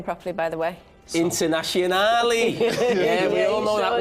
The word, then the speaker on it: Internazionale: Internazionale.